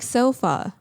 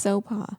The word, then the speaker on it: Sopa: It's like sofa. Like people think my name is Sofa, but it's Sopa.